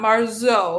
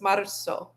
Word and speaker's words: marzo: It's not marzo, it's marzo. So, just whenever you see a z in Spanish, just pretend like it's an s.